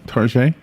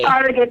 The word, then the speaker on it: Target: right by the way did you pronounce it tar one time tar yeah yeah yeah that's a California girl it's it's it's Target in Florida it's tar oh I see Target but it's just T